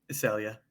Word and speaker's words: Issalia: Issalia.